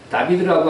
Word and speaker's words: 다비드: 이게 이제 다비드라고 하는 상이 루브르 박물관에 있는 거더라고요. 근데 발 아래 뭐 두고 있어요? 골리앗의 그죠? 원래 다윗은 발음상 하면 다비드입니다.